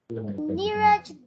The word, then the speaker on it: Neeraj: Neeraj. Yeah, so it has got R in the middle, right?